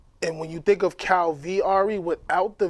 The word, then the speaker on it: Kalviari: of it and and when you think of cow VRE without the V it wouldn't make the name the pronunciation of it so if you if you